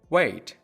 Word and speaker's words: weight: Weight. Weight. Weight. Weight is how heavy something or someone is. وزن یک نفر میشه. این کلمه کاملا شبیه فعل weight به معنای صبر کردن تلفظ میشه.